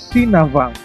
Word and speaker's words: Sinabang: Ibu kota Kabupaten Simelu adalah Sinabang. Kalau diucapkan dengan logat daerah adalah Sinavang, yang berasal dari legenda Navang.